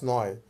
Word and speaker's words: 你: যখন নি বলি তখন এটা থার্ড টোনে বলি নি মানে তুমি লায়